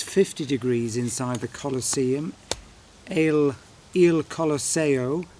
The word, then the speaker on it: Il Colosseo: Il Colosseo, I should say, if I'm going to pronounce it in the Italiano way.